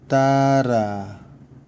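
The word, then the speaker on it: guitarra: 마찬가지로 기는 기타라, 뭘까요? 기타입니다. 기타. 기타라라고 읽으시면 됩니다. 깨는 관계사 what 혹은 의문사 what, 관계사 what, that의 뜻을 갖고 있기 때문에 상당히 많이 쓰실 거예요.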